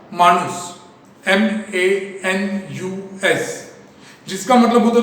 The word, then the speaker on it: manus: Last year के text book में लिख के दिया था कि मैनेजमेंट ये लैटिन वर्ड से लिया गया है, जिसका प्रोनाउंसिएशन था मानुस, MANUS, जिसका मतलब होता था टू हैंड, हाथ, यानी हैंडल द एक्टिविटीज।